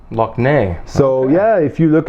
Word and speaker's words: Lough Neagh: a huge lake or we call it a lock like in Scottish they spelled L och some of your viewers may have heard of the Loch Ness monster Nessie yeah in Northern Ireland we spell it ello ugh and the big the big lake in Northern Ireland it's called Lough Neagh look now so yeah if you